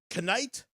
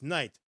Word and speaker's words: knight: Canite. tonight. I'm sorry. That was kind of silly. It's night. The K is silent.